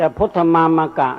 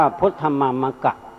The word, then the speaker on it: พุทธมามกะ: อ นี่ นะ แต่ พุทธมามกะ นี้ ใช้ ว่า พุทธมามกะ ไม่ ไม่ ออก เสียง พุทธมามก ทาง ภาษา ไทย กำหนด ให้ ออก เสียง ว่า พุทธมามกะ ห้าม ออก เสียง ว่า